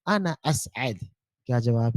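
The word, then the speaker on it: أسعد: देखिए यहाँ पर असअद बीच में थ्री है, यानी आइन है, तो ये आपको प्रोनाउंस बराबर करना है, असअद, असअद, ऐसा आपको प्रोनाउंस करना है, ठीक है? क्योंकि अगर आपने वो आइन को प्रोनाउंस नहीं किया, आपने कहा असद, अगर आपने असद कहा तो असद का मतलब होता है शेर।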